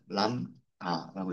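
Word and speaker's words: lambda: B는 발음이 안 돼요. 람 아라고 읽습니다.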